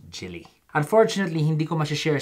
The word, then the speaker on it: Gille: asking how it's pronounced I don't wanna wanna Gilley but it's actually pronounced chili unfortunately Hindi commercial share